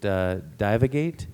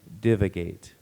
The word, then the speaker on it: divagate: Alternate pronunciations? Just divagate and divagate.